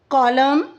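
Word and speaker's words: climb: इन the words given below the letter B is silent when it अपीयरर्स with M और यहां पर letter B जो है वो साइलेंट हो जाता है जब वो एम के बाद एम के बाद आता है।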